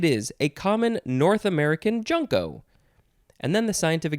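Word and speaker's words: junco: dark-eyed junko and yes i did go to the jays to confirm that it is pronounced junko because it doesn't tell me here dark-eyed is two words with a hyphen and then the third word is junko j-u-n-c-o noun from 1974.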